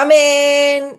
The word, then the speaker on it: amén: Y lo único que pronuncian es la nun, que lo estiran. O lo que pronuncian y estiran es la nun, la n. Cuando debería ser la última sílaba, que es la en.